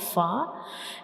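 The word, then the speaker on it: فاء: And when we pronounce fa, the edges of the upper front teeth will touch the inner side of the lower lip. So this is the origin of fa.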